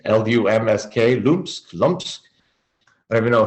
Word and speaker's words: Lumsk: And another female from a band, no one ever talks about, a band called, I don't know how to say it, Lumsk, L-U-M-S-K, Lumsk.